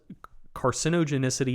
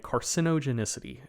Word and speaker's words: carcinogenicity: Carcinogenic and carcinogenicity. Okay. Like that's a tongue twist. The fact that you say the middle syllables different. Like that's the thing that's really fucking me up.